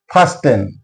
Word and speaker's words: fasten: Fen not fasten. Fasten t silent here. Sen not suben is silent here.